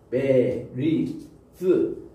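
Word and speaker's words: ברית: 또 리스 그러면은 베리스 여기 트라기보다는 이게 TH 발음이에요. 또 우리는 한국말로는 이 발음이에요. 반치음 발음.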